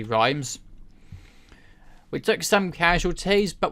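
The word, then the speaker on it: Reims: we were able to lay siege to rhymes and/or REMS rhymes how you say it you know there you go now it's actually rhymes we took some casualties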